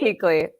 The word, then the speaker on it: Kuechle: Keekley. You almost got it. Keekley, still got it Keekley.